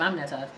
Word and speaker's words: Aminata: but mine's Aminata, and it's spelled the exact same way it's pronounced. I mean, people have always butchered my name. Why? I don't know. It's spelled just like how it's pronounced. Ami Nata.